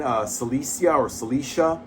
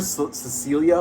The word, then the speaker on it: Celicia: Later on, we meet his girlfriend, Celicia. I kept calling her Cecilia, but it's Celicia.